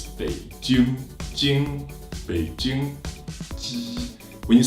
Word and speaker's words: Beijing: be bi bi J ing Beijing it's not Beijing wallet if you want to say correctly it's big June June Beijing when you say when you pronounce the J